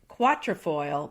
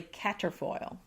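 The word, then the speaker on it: quatrefoil: f o i l so you'll want to say quatra foil but it's really cater foil oh for goodness sakes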